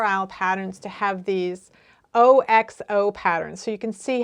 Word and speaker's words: OXO: And she called it an OXO pattern in terms of she wrote it out with a capital O, capital X, capital O.